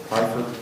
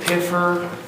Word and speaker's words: Pfeiffer: Pfeiffer, Yes, sir. am I pronouncing it correctly? Yes. Surprisingly, no one ever does. Okay. Okay, well, I understand, I get a lot of capers. I get Piffer, Pfeiffer.